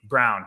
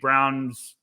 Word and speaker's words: Braun: so i just think braun could be brown i i can't ever say his name right i want us i want to say it away we're saying yeah i mean we went through it right before we hit record i'm saying brown if everyone wants to